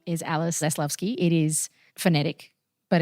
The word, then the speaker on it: Zaslavsky: My name is Alice Zlovski. It is phonetic, but it's actually quite difficult for people to pronounce, let alone spell.